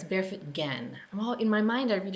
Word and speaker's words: Gen: Sorry, it's Barefoot Gen. In my mind, I read it as Gen, but I was reading about it online and it's pronounced Gen with a hard G.